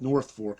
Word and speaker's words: Norfolk: Did a show in Norfolk, which it's spelled Norfolk, but they call it North Fork.